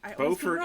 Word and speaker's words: Beaufort: we are just left Beaufort South Buford Buford Beaufort is the North Carolina Beaufort South Carolina and they're spelled the same very confusing yes those